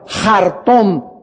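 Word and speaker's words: חרטום: Apunten la palabra mago en el hebreo es la palabra jartón. Se escribe con ch. Chartom se escribe. Pero recuerden que la ch en hebreo al principio se pronuncia como j. Jartom se pronuncia jartón.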